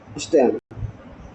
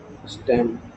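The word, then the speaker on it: stem: गर्थ ऑ root and स्टेम इक्रीज ग ऑफ root और स्टम इसको स्टम पढते हैं ठीक है ब बच्चा लोग स्टीम बोल देता है स्टीम का स्पेलिंग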